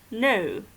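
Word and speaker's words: know: As you say, no, you don't say no, and it looks very funny actually, because you cannot pronounce it, okay? You just say no.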